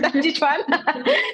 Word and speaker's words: Tai Chi Chuan: pronuncia? Tai Chi Chuan.